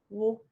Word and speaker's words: walk: Walk, walk. And there we see an example of where AL is making the aw sound and the L is silent, walk.